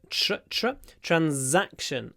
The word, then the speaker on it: transaction: make another transaction so the TRU at the beginning remember it's a sh transaction and then it's a z in the middle transaction transaction it's a z transaction and like in Russian actually transa transaction and the Z is a bit stretched because the at is stressed transaction transaction all right